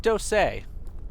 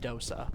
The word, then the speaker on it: dosa: You call it doseay. Okay. I wonder I don't know if that's like a regional thing or if that's just how I I've always seen it spelled out and heard pronounced dosa, but maybe maybe there's some slight differences.